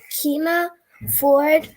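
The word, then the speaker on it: Keena Ford: still gonna be reading keema ford and the secret journal um mix-up we left off nice job with her name that's that's exactly how you say it okay tuesday november 16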